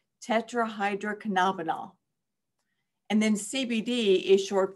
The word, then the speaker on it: tetrahydrocannabinol: saying these words, I gave you some phonetic pronunciations in there. So nobody says what THC is, but if you want to, it's tetrahydrocannabinol.